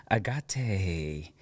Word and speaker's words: Agate: in the hood thank you foreign Agate from Muni task she's the founder of Muni